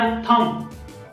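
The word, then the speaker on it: thumb: ठीक आहे, तर त्याच्यानंतर आहे थम, थम थम मध्ये देखील बी साइलेंट आहे आणि त्याचा अर्थ आहे अंगठा.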